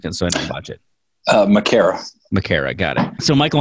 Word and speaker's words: Makara: Well, what's the correct pronunciation of your last name? So I don't botch it. Makara.